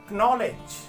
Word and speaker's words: knowledge: We never use the sound of K in a word where starting is with K and N. We never say know, we never say knowledge, we never say knee, we never say knife.